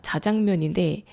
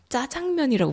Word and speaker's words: 자장면: 근데 원래는 짜장면이 아니라 자장면이라는 이름으로 들어왔습니다. 근데 누가 먼저 시작했는지 모르겠지만 짜장면이 아니라 자장면인데 언젠가부터 짜장면이라고 불리기 시작했어요. 그래서 이제는 자장면보다 짜장면이라고 말하는 사람들이 훨씬 많아졌습니다. 그래서 다들 짜장면이라고 부르니까 그래 그냥 짜장면도 오케이 해 주자 이렇게 됐어요.